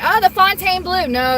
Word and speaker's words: Fontainebleau: Everyone calls it Fontaine, but it's spelled Fontaine. Fontainebleau. Yeah, that's how I say it because, you know, it's fancy and it's bougie, so I gotta say it bougie. Yeah, it's meant to be said with a French accent.